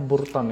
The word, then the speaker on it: Burton: Itu nama foundernya itu Barton, ya bacanya Burton ya.